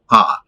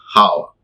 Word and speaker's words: hour: And an is also used before silent letter H. For example, HOUR. We pronounce, it is R. We can't pronounce how. There is a wrong pronunciation.